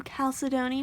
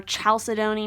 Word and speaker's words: chalcedony: it and we have blue calcidoni which is card or chalcedony mattering on how you want to pronounce it uh which is